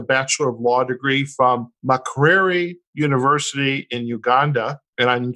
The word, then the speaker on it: Makerere: And the university in Uganda, how do we pronounce that? Makerere University.